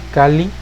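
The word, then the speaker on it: calli: con su pronunciación porque es una l alargada si vemos y recordamos la palabra cali se divide esa l entre la raíz y la terminación entonces cuando pronunciamos en la terminación es cali es un poquito se alarga un poco cali no es cali sino cali s pues alargamiento de la pronunciación y es la misma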